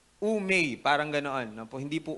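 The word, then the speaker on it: οὐ μή: Yun pong OU daw ang pronunciation niyan ay U. Tapos yung M na may E tapos may bar sa taas. May parang month of May yan ang bigkas. Umay parang gannon no.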